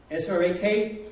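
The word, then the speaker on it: srak: And S-R-A-K, hold the K.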